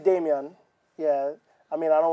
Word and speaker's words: Damion: Damion She. got it right. Damion. Well, you can say however. It's Damion.